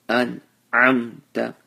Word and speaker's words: أنعمت: Hamza is pronounced from the chest, and ayn is pronounced from the middle of the throat. So an'amta, and the noon and the meme, they both have sukoons.